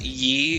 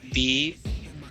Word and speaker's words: ye: That actually isn't pronounced ye, it's pronounced the. That's a thorn, that's why... That's what the letter is called, that Y-looking thing.